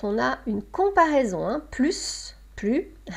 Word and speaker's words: plus: vous avez plusieurs situations. On a plus quand il y a un nom ou un verbe. On a plus devant un adjectif ou un adverbe qui commence par une consonne. Et on a plus quand on a un adjectif ou un adverbe qui commence par une voyelle.